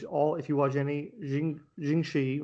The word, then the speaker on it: Jiangshi: if you watch any jinxi or jing shi i think it's pronounced uh films is because